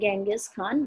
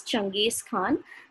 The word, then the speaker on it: Genghis Khan: led by changes khan so we have different pronunciations you can even see that it is genghis khan but it is often known it is often pronounced as changes khan so it was a